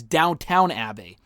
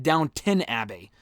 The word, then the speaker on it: Downton Abbey: I always thought for the longest time until someone I know started watching the show, it was Downtown Abbey. It's not. It's spelled Downton Abbey.